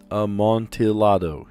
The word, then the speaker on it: Amontillado: The cask of Amontillado? Isn't that how you pronounce it? Amontillado.